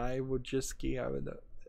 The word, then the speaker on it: Wojcicki: It's Wojcicki, Wojcicki, I think is how it's pronounced, but I'm never sure.